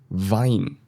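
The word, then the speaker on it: Wein: In German, W is pronounced like in English V. So here we have the word D vasa. D vasa. And we also have the word de vine.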